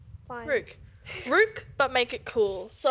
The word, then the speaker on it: Rewk: just Rook. Yeah. And this is gonna clear it up. So it's because Rook. I'm too shy to be like, oh. Yeah. It's actually Rook.